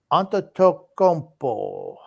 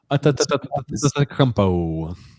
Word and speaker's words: Antetokounmpo: It's pronounced Antetokounmpo. Just call him Giannis. Antetokounmpo.